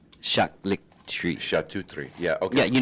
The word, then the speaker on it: charcuterie: This is how it's pronounced. Charcuterie. Charcuterie.